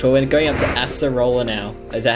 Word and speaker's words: Acerola: Well, we're going up to Acerola now.